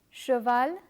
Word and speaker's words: cheval: When you come across this combination CH, always pronounce it as sh. To facilitate your understanding, let me compare it with the English language. The French CH has the same pronunciation as SH in the English words shop and flash.